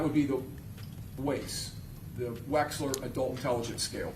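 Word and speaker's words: Wechsler: That would be the waist the Waxler adult intelligence scale.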